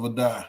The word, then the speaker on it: Adai: It's pronounced Joe like Joseph Adai. Okay. All right, so Coach Adai.